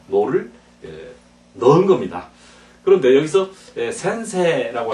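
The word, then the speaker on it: 先生: 선생님 할 때 센세, 세를 길게 하자 이죠. 자, 센세, 모이치도 센세 하고 그다음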